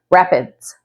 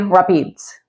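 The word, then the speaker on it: Rapides: So it's spelled like this, and you might be tempted to pronounce it Rap-eeds, but locals say Rap-eeds.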